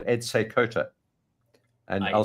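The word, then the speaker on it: Seykota: of the trading tribe a guy called Ed seota and I'll spell it for you it's s e y k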